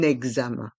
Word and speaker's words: examen: Un examen. Et le X se prononce examen, comme si on rajoutait un Z, un examen.